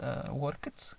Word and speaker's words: worked: ملاحظة أخرى worked كتنطق بحال عندنا تي على فين. اوكي worked why الأفعال اللي كينتهيو بكاي or p or t ملي كنزيدوهم ed كتقرأ ت.